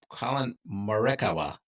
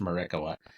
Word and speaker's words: Morikawa: First one, I'm going with Colin Morikawa. I think it's pronounced Morikawa.